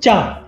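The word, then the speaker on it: 茶: If you were in the northern part of China, it started being pronounced cha. However, the same written character, when you go down south, it started to be pronounced as te.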